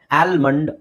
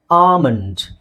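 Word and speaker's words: almond: okay ಕೆಲವರು ಸರಿಯಾಗಿ ಹೇಳ್ತಿರಬಹುದು ಇಲ್ಲಿ ಎಲ್ ಸೈಲೆಂಟ್ ಆಗಿರುತ್ತೆ ಎಲ್ ಸೈಲೆಂಟ್ ಆಗಿರುತ್ತೆ ಕಾಮನ್ ಆಗಿ ಎ ಮತ್ತೆ ಎಲ್ ಬಂದಾಗ ಆಲ್ ಅಂತ ಬರುತ್ತೆ ಆಲ್ ಅಂತ ಬರೋದು ಬಹಳ ಕಡಿಮೆ ಸ್ಟಾರ್ಟಿಂಗ್ ಅಲ್ಲಿ ಅಥವಾ ಮಧ್ಯದಲ್ಲಿ ಬಂದಾಗ ಓಕೆ ಸೊ ಅದಕ್ಕೆ ನಾವು ಇದನ್ನ ಏನಂತ ಹೇಳ್ತೀವಿ ಆಮಂಡ್ ಏನಂತ ಹೇಳ್ತೀವಿ ಆಮಂಡ್ ಸೋ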